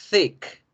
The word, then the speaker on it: thick: Grueso se pronuncia thick. Thick. Saludable, healthy. Healthy. ¿Sí? Es importante que generen así de esa forma interdentales porque si no, pueden confundirme thick con tick.